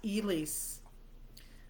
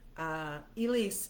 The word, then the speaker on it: Elyse: Is it said like Elyse? Yes, Elyse. Elyse is the correct pronunciation, yes.